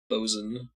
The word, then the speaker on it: boatswain: Always pronounced lieutenant as lieutenant, but I guess lieutenant is also a valid pronunciation. Sky Mom. Boatswain. Oof. Oof. Oof. Bosun.